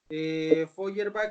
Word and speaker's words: Feuerbach: obras bueno primero ya dije tesis de feuerbach feuerbach se escribe efe rp hace h hierba así